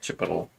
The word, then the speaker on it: chipotle: Chipotle.